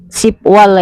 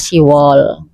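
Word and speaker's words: 시월: Terus ini Siwol Isipirio kan Sipwol ya, tapi bacanya Siwol.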